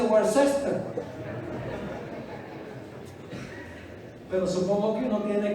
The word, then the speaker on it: Worcester: ¿Por qué dicen Leominster cuando debe ser Leominster? Y peor todavía, Worcester cuando dice Worcester.